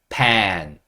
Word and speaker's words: pan: PAN, 후라이팬 할 때 그 펜은 pen, 좀 길게. 요거는 짧게 pen 이렇게 해주시면 돼요.